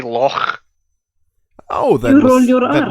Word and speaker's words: Loch: No, we say loch. You say Loch? Loch. Yeah, we say that's, loch. That's exactly how you pronounce. Oh, that's the one way to pronounce the ch in German.